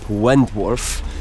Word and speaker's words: Wentworth: W ogóle, jeżeli nie wiecie, albo nie znacie się za bardzo na golfie, to właśnie ten klub Wentworth, tak się to wymawia, jest gospodarzem największego turnieju na świecie golfowego Ryder Cup.